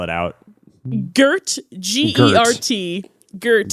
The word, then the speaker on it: Gert: say that name again for me and spell it out? Gert, G-E-R-T, Gert Gert.